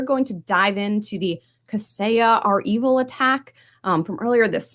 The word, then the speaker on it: Kaseya: Kaseya, is that how you say it? So I am putting a stake in the ground. I'm confident in Kaseya.